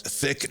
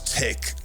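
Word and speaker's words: Thích: already there so relax thick not Han whose name I'm mispronouncing once wrote with every step I take I have arrived H I think it's tick not thick despite the uh the H but now I'm hoping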